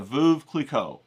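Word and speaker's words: Veuve Clicquot: And if you don't know what champagne to get, you'll get the Vuv Cleico. That's how you say it.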